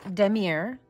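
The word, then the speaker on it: damier: box told me that it is a it's pronounced Demir it's French and it means checkerboard and so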